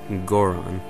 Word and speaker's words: Goron: is godon um but in japanese the o sound um many times will indicate these the um like the the uh soft ass o sound in um english as in gore on so i'm pretty sure it's goron and so then we